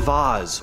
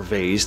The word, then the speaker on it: vase: The Bassano Vase, or vase, depending on how you want to pronounce it.